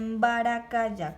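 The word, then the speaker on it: mbarakaja: Gato se dice baracaya. ¿Cómo se dice gato? Baracaya. Con J porque en guaraní se lee Y.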